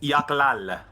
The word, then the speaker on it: Yochlol: Apparently, it's pronounced Yaklal.